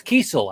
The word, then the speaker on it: Kiesel: It's Kiesel. I've actually heard him say his last name on this show, so that's how I know. I always ask people to pronounce their names because I've been pronouncing it Kessel for years, and once he said it, I'm like, I'm correcting that.